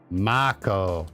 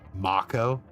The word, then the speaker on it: Mako: Has anybody in the history of ever played the original Final Fantasy VII and then pronounced it Mako? No, it's Mako. It will always be Mako.